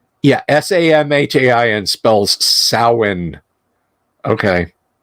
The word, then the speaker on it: Samhain: we could have done like a Samhain game or excuse me saween that's that's still weird